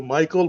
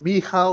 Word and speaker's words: Michał: I remember initially I used to call you Michael, but then you said, oh, it's Michal or something. And then I said Mikhail.